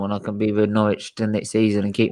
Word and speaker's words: Norwich: Oh, you guys don't pronounce the W there. No, it's Norwich.